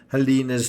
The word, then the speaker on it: Halyna: to rest now in my mind is the pronunciation of helena's name it's helena if anyone would know it's